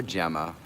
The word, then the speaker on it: Gemma: Oh, Gemma, or Gemma, as it's correctly pronounced.